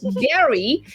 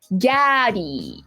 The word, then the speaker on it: Gary: My name is pronouncing your name as Gary. It might be better to say it like Gaddy.